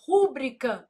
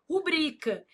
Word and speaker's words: rubrica: A pessoa vai lá e fala assim: "Rúbrica não, não existe, meu filho. Ah, mas eu não posso falar se eu quiser." Não, se você quiser, você pode falar, mas tá errado. O certo é o quê? Rubrica.